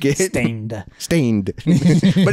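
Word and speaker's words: Staind: And it's spelled gross too. Yeah. S-T-A-I-N-D. Ooh. Like it, Stained.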